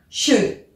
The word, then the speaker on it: should: On fait attention, même s'il y a un « L », on ne le prononce pas. On dit bien « should ».